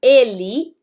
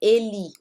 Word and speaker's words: ele: Mas ele, é óbvio que se eu digo ele, que é o pronome he, né, em inglês, ou el, no espanhol, eu vou pronunciar E aqui no início, mas no final eu vou dizer ele, tá?